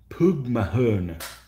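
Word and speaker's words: póg mo thóin: Poog Mahern. Yeah. Knowing English and Spanish doesn't help with Gaelic pronunciations.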